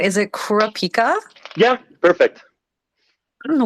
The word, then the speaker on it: Kurapika: yeah how are you oh and am I pronouncing your name right is it Kurapika yeah perfect I don't know what's the story